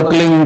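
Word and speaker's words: क्लीं: की मात्रा और बिंदी, उसका उच्चारण होगा क्लीन।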